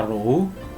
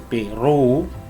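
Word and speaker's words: ρ: dilambangkan dengan simbol Wow Ini bacanya ruh bukan Pi Kebanyakan anak-anak yang bacanya Peru diambil dari salah satu huruf Yunani sekali lagi simbol massa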